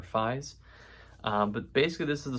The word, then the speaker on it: Fies: So this is Brian Fees, I want to say, is how you say his last name, or Fies.